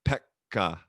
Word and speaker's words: Pekka: So in English we just say Pekka, Yeah. but in like Finnish it'd be like Pekka. Like you like it's like two, like you break it into two syllables almost and you're saying Pek and then ka, or like, yeah, I guess I'll stiff.